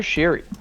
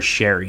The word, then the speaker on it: Sheary: I also can never remember if it's Connor Sheary or Connor Sherry because I know he changed his pronunciation like halfway through his time with Pittsburgh, and I can't remember what the What proper it one was. is. I Well, believe it's Connor Sherry now.